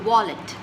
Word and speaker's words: wallet: It's the wallet. Most people have a problem, most Indians have a problem pronouncing this consonant. It's the W, which is pronounced as W.